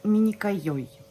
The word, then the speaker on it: Minikoioi: Это турецкий бренд, называется Миникайой. Вот так вот правильное произношение этого бренда.